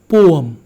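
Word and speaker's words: poem: पोयम, पोयम लिखा है हमने, हमारे किताब में बहुत सारे पोयम है। पोयम नहीं है, इट्स पोअम, इट्स पोअम।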